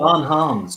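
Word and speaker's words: Bons Hommes: Bon Homs, yeah, that's how we pronounce it. Bon Homs, good men, absolutely, yeah.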